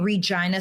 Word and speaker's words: Regina: I'm from the prairie in Regina, Saskatchewan, Canada. Right. And the prairie like Regina is the city that I'm from. The slogan is the city that rhymes with fun.